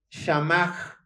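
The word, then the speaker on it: שמר: Se pronunciaría de la siguiente manera. Shamach, Shamach.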